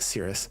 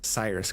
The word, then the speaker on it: Cyrus: Cirrus card Cyrus card I don't know why I keep wanting to pronounce it Cirrus Cyrus card um which is not